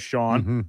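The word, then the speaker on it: Xienne: or something, I suppose it does come out pronunciation-wise as Sean.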